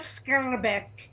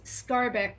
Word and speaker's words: Skarbek: The name is Skarbek. It's Skarbek in English. How do you pronounce it in that's the way you pronounce it in English?